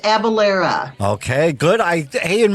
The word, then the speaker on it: Avellyra: book but but pronounced it's pronounced abalera okay good I hey